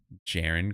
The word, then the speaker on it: Jerian: His name, picked the 19th out of Notre Dame from the Wizards, Jaren Grant. Never heard that guy before in my life. His name is spelled Jerian, but his name is Jaren, which is ironic that you didn't get it.